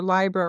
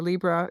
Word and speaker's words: Libra: of the big struggles for Libra or Libra, it can be pronounced both ways is the struggle to integrate feeling and thought and and you know it's a romantic group of people.